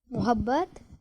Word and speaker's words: محبت: میم کے اوپر زبر آتی ہے، پیش نہیں آتی، اس لیے یہ محبت نہیں محبت پڑھیں گے.